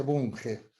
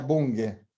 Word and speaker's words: Bunge: Según Bunge, bueno, en realidad en Argentina se dice Bunge, sería Bunge, porque es de origen alemán. Bunge. La GH, la G pronuncia como si nuestra G, no como una J.